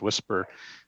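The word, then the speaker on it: WSPR: propagation reporter uh acronym we usually pronounce it as whisper which is kind of nice because you're looking for weak signals which will come in as a at a whisper oh here it is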